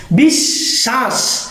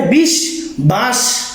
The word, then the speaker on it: বিশ্বাস: বিশ্বাস, এখানে বিশ বাস উচ্চারিত না হয়ে বিশ্বাস কেন হলো? কারণ বফলা বা মফলা যে বর্ণের সাথে যুক্ত থাকবে সে বর্ণটা দুইবার উচ্চারিত হয়।